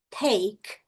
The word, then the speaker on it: take: Em vez de take, take, termina K.